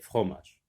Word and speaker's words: fromage: Et fromage, tu sectionnes le mot en syllabes d'abord. Fromage. La première syllabe contient trois lettres. F-R-O. Fro. La deuxième, ma. M-A. Ça se lit ma. Je-E. Et la lettre E, c'est une lettre muette.